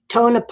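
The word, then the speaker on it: Tonopah: want to forget you you did pronounce tone up correctly when it is tonipah yeah oh cool all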